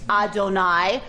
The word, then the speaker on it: Adonai: man when we read Adonai in the Torah in Hebrew when we read Adonai what are the letters we have for Adonai it is vocalized Adonai because we can't say this this is unpronouncable right